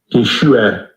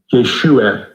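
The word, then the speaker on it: ישוע: 두 가지 또는 두세 가지가 있는데 일단 우리에게 익숙한 예수라는 발음의 원 발음을 보면 Yeshua. Yeshua. 약간 애매한 발음이죠. 이게 요 뒤에 맨 뒤에가요. 이 목 속에서 나오는 소리입니다.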